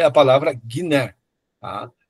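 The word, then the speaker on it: γυνή: Por exemplo, aqui, aqui é o G, como na palavra guerra, e aí aparece a palavra mulher aqui, ó.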